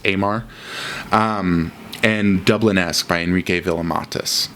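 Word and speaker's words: Eimar: I believe it's pronounced Amar.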